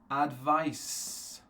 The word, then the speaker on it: advice: is the Zed sound and of course sound at the end for the noun does anyone know what's what sound at the end it's not a z sound it's not a zed sound it is an S sound okay so for example